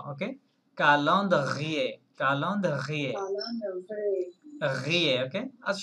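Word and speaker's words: calendrier: ফেলবো আচ্ছা ফ্রেঞ্চরা তাহলে ক্যালেন্ডারকে কি বলে বলেন কালন্দ্রিয়ে কালন্দ্রিয়ে ইয়েস সি এ কা এল ই এন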